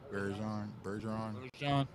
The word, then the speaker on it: Bergeron: Bergeron.